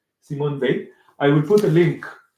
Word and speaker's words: Simone Weil: Justice by Simon V we check the pronunciation of her name in French Simon V I will put a